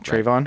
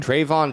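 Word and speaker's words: Trevon: tr trevin diggs i can never say it trayvon trayvon dick i know you don't want i know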